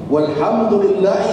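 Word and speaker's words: والحمد لله: Jadi kalau dia membaca Allahu Akbar untuk takbiratul ihram, kemudian berikutnya dibaca Allahu Akbar kabira walhamdulillahi katsira. Jadi bukan Allahu Akbar kabira walhamdulillah. Ya.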